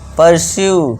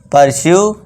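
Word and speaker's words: pursue: Next fourth रूल से देखिए क्या है दोस्तों, जब किसी वर्ड के लास्ट में यू ई आए तो यू ई का उच्चारण भी यहाँ यू होगा। अब देखिए दोस्तों, यू ई लास्ट में सभी में है, जी हाँ है सभी में। तो यहाँ पे क्या इसे करेंगे, परस्यू, यू का उच्चारण लॉन्ग वाले करेंगे, value, issue, argue, परस्यू, value, issue, argue.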